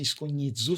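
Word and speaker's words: scugnizzo: era de, por exemplo, escunhido, é uma palavra que que eu gosto muito, porém se escreve com s, c U, zi, sabe assim, esconhidzu, só que é muito difícil pro brasileiro falar, mas a gente a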